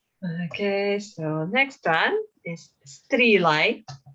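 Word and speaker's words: Sruighlea: Okay, so next one is Strelai. Strelai. Although there is no T, but quite often when we have S and R together in Gaelic, there is a little T in pronunciation.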